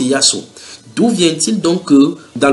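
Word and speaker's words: يسوع: Maintenant, les musulmans sont convaincus, les musulmans arabes prononcent ce Jésus-là par Yassou. Donc en arabe, normalement c'est Yassou.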